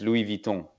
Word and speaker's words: Louis Vuitton: to say it well it's actually in French it's Louie Vito yeah you want to know that's the right way to pronounce you're from France France